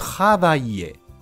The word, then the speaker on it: travailler: 先してみましょう。travailler を後ろから見てい